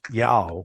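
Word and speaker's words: JAOO: someplace like that and the way that they pronounce their J's is like more like a y so that's the pronunciation of the conference then was Yao when it was J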